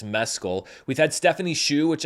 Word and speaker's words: Mescal: the entire award season it's not Mezcal it's Mescal we've had Stephanie's shoe